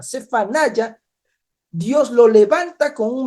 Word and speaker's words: צְפַנְיָה: Sí, es en este contexto donde Dios levanta a este profeta, donde Dios levanta a Sofonías, que en hebreo se pronuncia Cefanaya. Cefanaya.